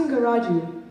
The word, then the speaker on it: Singaraju: hello greetings to all my name is pronounced Inga Roger and I am a